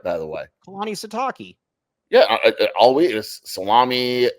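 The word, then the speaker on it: Kalani Sitake: Proud of you for pronouncing his name right, by the way. Kalani Sataki.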